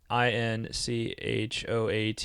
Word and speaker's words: inchoate: All right, so first of all, got to look up what that word inchoate, because every time I see that word, I wonder what it means and how to pronounce it.